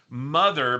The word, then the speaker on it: MTHR: And under the guidance of their guardian mother, but it's spelled capital MTHR, but I guess it's mother, they discovered that they